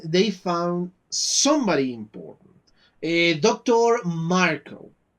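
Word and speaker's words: Marcoh: Marco. That is how they pronounce it. Of course, it's not written as I usually saw that name written.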